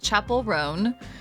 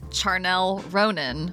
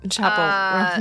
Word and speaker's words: Chappell Roan: months, and that is Chappell Roan, who my mother pronounced as Charnel Ronan a few weeks ago, just like a classic mom.